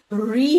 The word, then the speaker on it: ऋ: लेकिन यह एक स्वतंत्र स्वर है जिसका उच्चारण ऋ होता है। इसके उच्चारण करते समय हमारे जीभ में थोड़ा सा कंपन होता है।